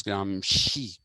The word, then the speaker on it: Gramsci: society gramsci antonio g-r-a-m-s-e-i it's actually gramsci but while pronouncing it becomes gram she it's gramsci and antonio